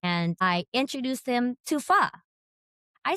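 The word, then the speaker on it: phở: And I looked over I said, "Sweetie, do you know that it's pronounced fa and not pho?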